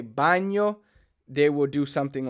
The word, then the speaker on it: baño: will help you if you're having trouble saying the N yay sound so for like baño bad know how to figure out that sound in Italian they don't have that in but they they say it like this baño so if you have that in mind it might kind of help you put together the the word a little better buying yo so I